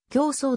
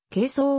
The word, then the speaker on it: 形相: て使われる用語日本語としては競争とも読めるが哲学ようむとして使うときには係争をと読む質量と形相を対置